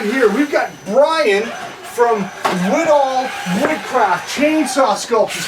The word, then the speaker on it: Widahl: Widahl? Widahl Woodcraft.